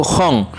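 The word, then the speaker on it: 本: nah untuk kata selanjutnya ada kata Hong atau disitu tulisannya hon ya belakangnya itu n yaitu Hong itu buku ada juga di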